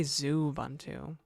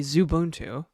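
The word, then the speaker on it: Xubuntu: So, an X in front of it would actually would be Zubuntu. Not Zubuntu, but it would be Zubuntu, right?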